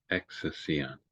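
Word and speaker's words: ἐξουσίαν: exousion. Yeah. Oh, that's a sick It's thing. not a key, it's a xi. Exi- So it's like our X.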